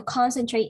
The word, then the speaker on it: concentrate: concentrate, Okay, so concentrate on, not concentrate. Okay, concentrate the first syllable, the first stress on the first syllable.